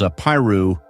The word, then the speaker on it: Apiru: In Egyptian writing, its closest equivalent seems to be trad-u, traditionally pronounced as Apiru, where the u functions as a plural suffix characteristic of Egyptian.